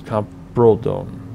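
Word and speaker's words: Camprodon: Depends on the language. Oh, back into Spain, so it's Campredon. Because remember, without an accent, it's always the second. It's always a penultimate syllable without an accent, so Campredon.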